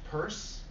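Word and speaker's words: Peirce: at American high name it's pronounced purse but it actually looks like Pierce piee are see this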